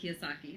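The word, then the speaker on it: Kiyosaki: kosaki is how that is that how you pronounce it yes Robert kosaki uhu I know that he is like one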